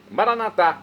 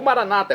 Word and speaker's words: Maranatá: Agora eu clamo, então, Maranatá, do dialeto de Jesus, o aramaico, ou maranata, como dizem nossos irmãos, separados das comunidades evangélicas ou protestantes, não importa, pronúncia, o significado é o mesmo.